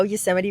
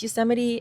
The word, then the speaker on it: Yosemite: So I didn't know Yosemite was pronounced Yosemite. I used to pronounce it Yosemite. Like, tell me on first glance, reading that, doesn't it look like it would be pronounced Yosemite?